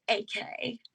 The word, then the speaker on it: Ek: My last name is spelled E K and it's pronounced AK.